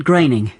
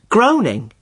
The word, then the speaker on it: Groening: like to meet matt groening the simpsons guy the simpsons guy i always thought it was pronounced groaning well i did too for a long time but no it isn't it rhymes with raining that's the name sorted